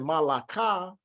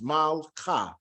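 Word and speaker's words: מלכה: So instead of saying malaka, we say mal. So it's a placeholder. So it's malcha, malcha, malcha.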